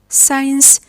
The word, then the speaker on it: science: We say scenario, scene, scenery, scent, science, scissors, muscle, descent, fascinate, discipline, crescent. The C is silent after the S letter.